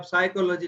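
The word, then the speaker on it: psychology: जैसे आप साइकोलॉजी लिखते हैं तो पी साइलेंट होती है, ऐसा है ना।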